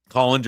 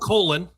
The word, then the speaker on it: Kalin: Kalin. Okay. So myself and several others have been saying it wrong for a while. All right. So that Kalin. Not Colon. Not Colin.